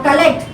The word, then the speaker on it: collect: Okay, now collect, you collected, it's a verb. Collector is a noun, but even then, the stress here, collect, second syllable.